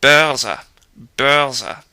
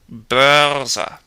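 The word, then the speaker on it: Börse: R means evil anyway B bza bza you can do that rolling if you want to make sure the r is heard like I say it won't be wrong B b or of course B if you roll it you'll sound Southern but it's a lot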